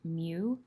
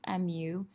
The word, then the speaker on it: mu: of your graph is it's a Greek symbol it's pronounced mu mu and it means that